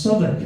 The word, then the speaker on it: Southwark: And they're no, Irish, it's pronounced Southwark. I'm like, how the fuck is that pronounced Southwark? It's 2 words in your language, one of which is South, the other of which is Wick.